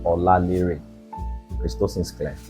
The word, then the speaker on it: Olalere: No special pronunciation. Olalere.